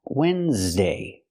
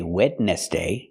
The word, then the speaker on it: Wednesday: Example, this word this word is pronounced Wednesday and it is not spelled like it's pronounced. We don't say wet nest. That's what it looks like. That's how it's spelled but it's not pronounced the same way.